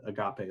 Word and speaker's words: agape: That's how you pronounce it, agape love.